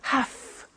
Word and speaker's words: have to: i have to notice i don't say v i say f have half it becomes have to have the two becomes